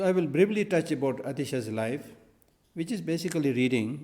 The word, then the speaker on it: Atisha: thing so atisha dibamkarashiriyana in bengal you know bengali it's called atisha dibamkar shirijan but the proper pro bengali pronunciation is otis de pancor something like that otis dibonko citigan or